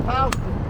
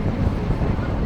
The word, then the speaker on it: Houston: stands for north of Halston. If you were in Texas, you would pronounce to Houston New York, you say.